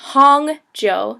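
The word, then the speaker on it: 红酒: p p Joe um and then we have Hong Joe so h o n g Hong Joo that's red wine it literally means red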